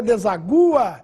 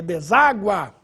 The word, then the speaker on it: deságua: nossa regra deságua importante para você não ler desagua é deságua mágoa Agudo não esse